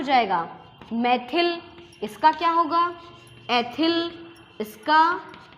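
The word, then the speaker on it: methyl: जो English medium के जो स्टूडेंट्स होते हैं ना, मैथिल की जो स्पेलिंग है वो ये है, तो वो बच्चे क्या उच्चारण करते हैं, मिथाइल, एथाइल, propyl, butyl, पेंटाइल, hexyl, heptyl, octyl, nonyl and डेकाइल।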